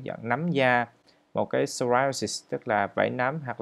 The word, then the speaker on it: psoriasis: Từ psoriasis này, từ P này là P căm. Nên các bạn đọc là psoriasis.